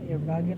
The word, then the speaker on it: Wagen: So the W, in German it's V, Wagen.